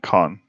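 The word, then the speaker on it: K-On!: Cone. I think it's Cone. Cone is how you Okay. pronounce it. Everyone calls it K-On and here in America.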